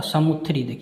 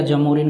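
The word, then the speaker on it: Zamorin: देखिए उसका एग्जैक्ट नाम कोई नहीं प्रोनाउंसिएशन करता था। ठीक है, समुथरी या जमोरिन करके उसको इंडिया के लोग अपने प्रोनाउंसिएशन के अनुसार क्या कर रहा था कि वो अपने अकॉर्डिंग वो पढ़ रहा था। तो कोई समुथरी पढ़ता था, कोई जमोरिन पढ़ता था, आपको अक्सर जमोरिन मिलेगा।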